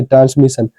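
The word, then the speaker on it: transmission: ठीक है double S आई ओ एन से पहले आई है। आई क्या है? एक वोवेल है। ए इ आई ओ पांच वोवेल होते हैं। उनमें से आई क्या है? एक वोवेल है। तो इसको क्या पढ़ेंगे? ट्रांसमिशन। ट्रांसमिशन क्या हो जाएगा? प्रोनंसिएशन है ट्रांसमिशन।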